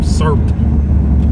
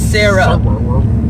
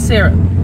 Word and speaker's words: syrup: I'm country super country but s on some serup oh yeah that don't that don't sound right it's sarup it's sarup syrup syrup now we got a whole segment